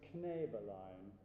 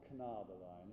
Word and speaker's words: Knäbelein: In bar 10, the word is Knäbelein, not Knabelein. It's Knäbelein, okay? So make sure you notice that those two dots over the top, they change the pronunciation.